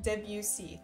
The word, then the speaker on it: Debussy: and classical music intensifies and amazing uh it's pronounced Debussy thank you is that your rule for the